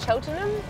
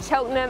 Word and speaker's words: Cheltenham: how you say it cheltenham cheltenham like buckingham my surname but not